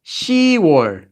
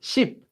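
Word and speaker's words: 시월: not u k-- and ten is she war it's not cheap these are the only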